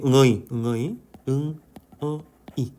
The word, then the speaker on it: người: 자이 응어이가 단어가 중요하기 때문에음 응어의 발음이 어떻게 된다라는 거 아시죠?음 오케이. 응어이 응어이 응이 근데 어떻게 된다? 내려간다. 응어이 응어이 응어이 맞죠? 응이 한 꼭 응어의 한 꼭 맞죠? 어 꼭 이렇게 내려간다.